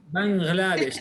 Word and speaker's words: Bangladesh: لا, we can say Bangladesh. This غين, but in Arabic, this is a foreign word. So if you know the right pronunciation, that the غين come as gay.